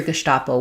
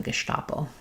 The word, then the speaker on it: Gestapo: Okay, yes, so you did hear Gestapo with the S as well. So you can use it either way. If people around you are using it that way and that feels more comfortable, you can use kind of the Americanized version versus the German Gestapo.